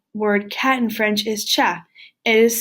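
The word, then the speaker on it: chat: cat in French is cha it is spelled c h8 e but we do not pronounce the T at the end of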